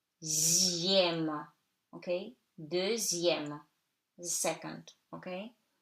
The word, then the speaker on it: deuxième: In numbers, X before I-E-M-E, M accent grave, it's pronounced like Z. So, de, E-U like E, zième, okay? Deuxième, the second, okay?